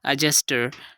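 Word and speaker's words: adjuster: तो यहाँ पर जे आ रहा है, तो यहाँ पर भी हमने डी को साइलेंट कर दिया और इसकी करेक्ट प्रोनाउंसिएशन जो होगी वो होगी एडजस्टर।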